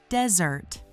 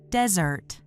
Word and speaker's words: desert: Desert, spelled with one S, is pronounced . Listen again, and repeat after me: dez-ert.